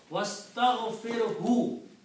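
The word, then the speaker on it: وَاسْتَغْفِرْهُ: But when you put wow, then alif is not pronounced, so it becomes was.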